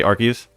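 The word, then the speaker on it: Arceus: They probably um people say aras I can't even mentally predict it. I say Arus, but I went to Pokemon Arcus YouTube trailer and they say Archus.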